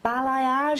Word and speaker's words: balayage: Now, you're here today, Laura, and Robert is here to tell us about balayage.